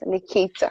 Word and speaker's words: Nekeita: That's want to make sure I'm pronouncing Nekeita properly. It's Nekeita, yes, right? Nekeita.